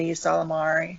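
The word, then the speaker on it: Ysalamiri: Is it a silent Y in the front? Solari? I pronounce it like an E, so I call it an E Salamari.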